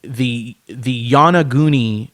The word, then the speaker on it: Yonaguni: There is something called the Yanaguni Monument, and some call it a pyramid.